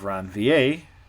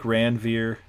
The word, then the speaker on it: Ranvier: of it looks like ranveer it's pronounced around va presumably it's french node of ranvi okay